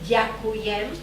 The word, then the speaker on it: ďakujem: But this time, okay, just to repeat, ďakujem. Ďakujem. Ďakujem.